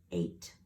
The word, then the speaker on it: eight: this is really tricky the long a is spelled a I there's not even an A in it and then it has that silent gh again those troublemakers eight practice it several times